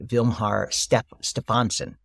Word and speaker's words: Vilhjalmur Stefansson: He read a book by Vilhjalmur Stefansson, is how it's pronounced, who was an explorer who spent a year with the Eskimos.